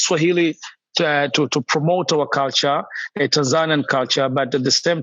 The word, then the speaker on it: Tanzania: Tanzania is a locally pronunciation, Tanzania. But for the people from other side, they call Tanzania. When you go to German, they call Tanzania. So, but I can call it myself Tanzania.